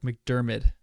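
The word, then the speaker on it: McDiarmid: that one pronounce b pronounced like mcdermid mcdermid where the ministry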